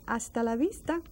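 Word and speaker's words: hasta la vista: next time a Vista that's another silent h AAL Vista so you say AAL Vista you have heard that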